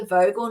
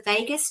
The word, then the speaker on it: vagus: And then one day to one of our acupuncturists, Matt, I was like, hey, Matthew, do you know about the vagal nerve? And he goes, it's the vagus nerve, Joe.